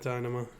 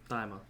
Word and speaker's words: Daima: not Dynama, Daima.